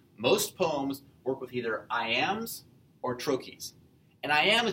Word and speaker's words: iamb: The word itself, iamb, the second syllable of it is the stressed or emphasized one.